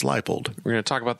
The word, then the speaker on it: Leipold: they introduced him and I didn't realize his name is spelled Lei p o l d instead of l i e leapold so it's lipold we're going to talk